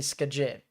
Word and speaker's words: Skagit: So Skagit. It'd be Skagit. It's almost kind of like it's one word with no, like no multiple syllables. It's like one syllable.